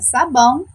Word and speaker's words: sabão: Qual a sílaba que demoramos mais tempo chamando? Isso mesmo, o bão. O bão é a nossa sílaba tônica da palavra sabão.